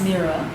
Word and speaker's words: Mirra: it Mira or mea it's Mira in in American English um my mother was born in Russia and this name this spelling is more like an Eastern European spelling and in as I